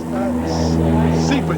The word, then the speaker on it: SIPA: SIPA jet. How do you spell that?